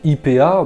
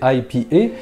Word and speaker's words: IPA: D'ailleurs, les bières qui sont dites IPA, bon ça c'est la prononciation française, sinon c'est IPA, eh bien elles sont très à la mode en ce moment et elles sont également très houblonnées.